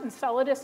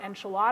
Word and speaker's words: Enceladus: going to take a while to get there ins solidus is the last place I'm going to bring you um in the solar system this is pronounced Enceladus not enchilada I've heard it about pronounced both ways um